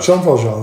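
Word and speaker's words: Jean Valjean: Well, I mean I actually don't know how to say his name. So Jean Valjon is right.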